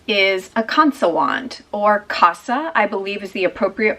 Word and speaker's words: Kansa: This is a Kansa wand, or Kasa, I believe is the appropriate pronunciation, but most Westerners that I hear talk about this say Kansa, and even some Indians that I hear talk about it pronounce it Kansa.